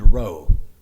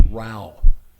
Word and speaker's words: row: Most of us in this room would read row. Rhymes with bow and snow. That's not the word. It's row rhymes with cow and now. And it means a quarrel or an argument.